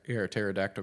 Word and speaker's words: pterodactyl: can't you hear attack pterodactyl go to the bathroom because you can't hear it pee because the p is silent oh that's really great